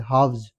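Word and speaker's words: halves: और ये हाफ का प्लुरल है। हाफ्स। तो इसमें भी एल साइलेंट है।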